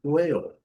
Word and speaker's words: whale: H silencioso, S silencioso, whale. Whale é a nossa baleia. Sem muito comentário, a pronúncia é bem tradicional. O A com o seu som tradicional de EI. E o L, dark L, whale.